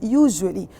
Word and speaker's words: usually: طيب usually, I want you to have a look at usually. Do I pronounce the S? No, I say usually.